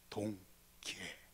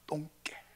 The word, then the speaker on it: 동계: 동계. 잘못 발음하면 똥개 이렇게 합니다. 동계.